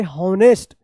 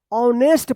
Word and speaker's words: honest: हॉनेस्ट, जो बिल्कुल गलत है, ऐसा उच्चारण नहीं करना है, क्योंकि यहाँ पे एच जो है ना ये साइलेंट रहता है, इसका उच्चारण नहीं होता है। तो इसको क्या पढ़ेंगे? ऑनेस्ट पढ़ेंगे।